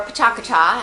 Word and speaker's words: Pecha Kucha: relations person behind is PETA cucha so Amy what is PETA cucha so Peta cucha or Paka as it's pronounced in Japanese is a um was